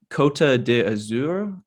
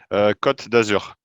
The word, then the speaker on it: Côte d'Azur: Côte d'Azur, is Yeah. that correct? It's the Côte blue d'Azur. Yeah. coast. Okay, thank you. How do you pronounce it? Côte d'Azur. Côte d'Azur.